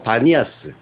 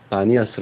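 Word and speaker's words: Banias: 이제 그 이름을 따서 바니아스 이슬람 사람들이 그곳을 그곳에 사는데 이스람 사람들은 발음이 안 돼요 그래서 바니아스 불러요 가이사라 빌립보를 거기에서 또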